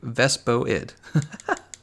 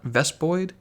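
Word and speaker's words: Vespoid: like this dream also you pronounced vespi eyed Vespa it like Vespa it it's Vespa it thank you thank you very much it's not best Boyd see ves Boyd would like void boy dispelled vo ID so vest Boyd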